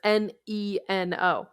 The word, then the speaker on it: Neno: And remember, that's Neno. Yes. Nino Studios. No, it sounds like it's spelled with an I, but it is not.